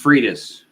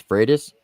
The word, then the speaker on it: Freitas: I'm going with Fritas. It's Freitas, right? What do you think, Triple T? Which one's right? It's Freitas? That's correct. Okay. Tyler got it right. Freitas. But everybody pronounces it Fritas or Fritas.